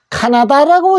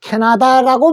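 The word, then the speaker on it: Canada: 카나다인데 실제로 영어에서는 이렇게 캐나다라고 합니다. 캐나다.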